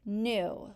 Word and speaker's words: knew: But in this case, we have a silent K before the N.